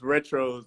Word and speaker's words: Retros: guy what's good man i think you saying my name wrong though it's uh it's retros though oh forgive me forgive